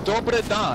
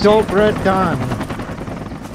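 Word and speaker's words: dobar dan: So, Dobre da, you don't understand what that means? Not the da, pa, because that's mispronounced. I know what you want to say, though. Yeah. So it's Dobre Dan.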